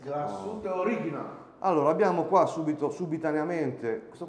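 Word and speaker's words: Glashütte Original: Glassout Origina. Alla tedesca. Glassout Origina.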